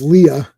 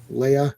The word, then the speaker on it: Leia: That's Princess Leah. Leia. That guy. It always irks me when someone says it weird like Krypton or Leah. It's like and I'm like no that's not how it's said.